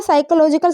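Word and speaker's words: psychological: मैंने बोला साइकोलॉजिकल का पी कहाँ चला गया, ये जो इसके अंदर पी होता है ना ये रहता है साइलेंट, इसको बोलते नहीं है, ठीक है।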